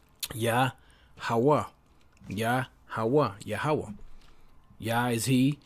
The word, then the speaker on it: Yahawah: So how is that pronounced? Strong's H3050. Yah. Yah. So if you put it together, Yahawah. Yahawah.